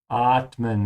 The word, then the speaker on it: atmen: Atmen. Make sure to open your mouth wide on the A. It's not O or Atmen or something like that. It's not Atmen, yeah, or Atmen. It's A. Atmen.